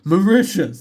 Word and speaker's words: Mauritius: I typed it into Google and typed in pronunciation. The second it was like Mauritius, I was just like, oh.